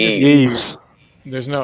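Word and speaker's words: Yves: Eves. I think it's just Eves. There's no S sound on the end. It's just No, Eve. no. There's no S sound. It's Eve.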